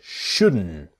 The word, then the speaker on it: shouldn't: And the T is silent. You shouldn't buy it. You shouldn't You shouldn't buy it. Okay. So, let's train and let's practice. It's the N sound. shouldn't and connect it to the verb.